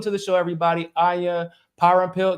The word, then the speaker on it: Parampil: the show everybody Aya power and pill do I pronounce that correctly yes yeah see pays the